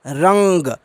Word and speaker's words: रंग: का पंचमाक्षर यहां आएगा रंग का उच्चारण होगा रंग इसमें आप उच्चारण भी करेंगे अगर कान बंद करके तो आपको अंग सुनाई देगा जैसे अंगना अंगना में